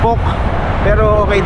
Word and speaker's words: POC: Kung POC ba o PO. Ang ano daw talaga non pok na POC.